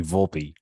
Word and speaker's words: Volpe: Volpe how do you say it's uh Anthony Volpe but uh as far as Anthony Volpe goes